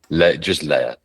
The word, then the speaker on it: Leya: sure how you pronounce is it just Leia or is it Leia AI just Leia so we we're just called Leia Leia spelled l e y a that's the one lea.